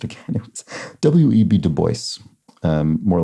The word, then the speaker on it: Du Bois: So didn't pronounce it in the French way, even though that's obviously the origin of the name.